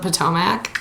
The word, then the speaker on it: Potomac: I just watched the trailer for the new Housewives of Potomac.